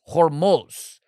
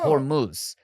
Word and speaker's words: Hormuz: Or what I learned, it's Hormuz, not Hormuz. And I've been pronouncing it incorrectly.